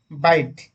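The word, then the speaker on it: bight: ठीक है, बाइट, बी ए से क्या होगा? बाइट तो स्पेलिंग थोड़ा भूल है, बी आई जी एच टी।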